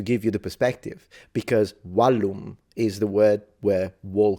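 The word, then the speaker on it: vallum: Because wallum is the word where wall comes from, and it means, of course, a wall.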